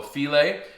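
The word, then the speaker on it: filé: Now I've also got 1 tablespoon of gumbo filet, and it's spelled like file, right? With an accent on the E at the end.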